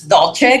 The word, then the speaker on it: Dulce: Well, my name is Dulce, commonly known as Dolce, because a lot of people pronounce it that way. Either way is fine.